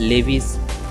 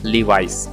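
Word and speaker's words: Levi's: तो इसे अक्सर लोग गलत प्रोनाउंस कर देते हैं। इसका लीवाइस या फिर लेविस या फिर लीविस, ये आपका क्या है? इट is wrong pronunciation. आपका करेक्ट प्रोनाउंसिएशन क्या हो जाएगा? लीवाइस।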